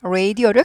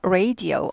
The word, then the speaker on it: radio: 그래서 radio 아니고 radio예요. radio를 ray 이거를 한 박자 해야죠. ray. 우를 입모양을 시작할 때 우라는 입모양을 하고 시작해야 돼요. ray. radio 아니고 do 해야 돼요.